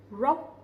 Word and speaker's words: rock: Rock. Okay? The R sound, we will not pronounce it too strongly, but instead we pronounce similar to English.